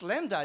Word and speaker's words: Lambda: It's Lambda, it's in the name. It doesn't just rhyme with Buddha, it's the essence of computing, is it?